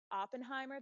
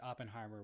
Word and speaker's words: Oppenheimer: out there like people are aren't gonna watch Oppenheimer that's how you say it right yeah Oppenheimer